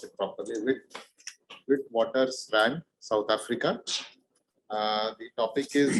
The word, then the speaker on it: Witwatersrand: the University of Witwatersrand, or let me just pronounce it properly, Witwatersrand, South Africa.